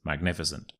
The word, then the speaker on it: magnificent: so don't worry sorry it's magnificent magnificent and there are two things to remember here firstly it's a soft sea when it is a soft C we say s